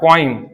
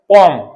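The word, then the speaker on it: poem: Right जैसे I wrote a पोयम। I wrote a पोयम। This word is नॉट पोयम बट the correct pronunciation of this word is पोम।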